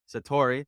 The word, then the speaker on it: Sartori: I think I pronounced that right. I could have pronounced Sartori? that wrong. Sartori, there it is.